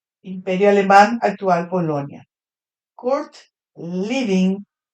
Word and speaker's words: Lewin: En castellano sería así, Kurt Lewin. ¿Qué nació? Moguilno. Imperio alemán actual Polonia. Court living. Lewin en alemán se pronuncia Living.